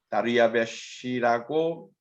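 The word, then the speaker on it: דריוש: 표현하다 보니까 나온 말이고, 실제 발음은 다리아베시라고 하는 발음이 훨씬 더 정확할 겁니다.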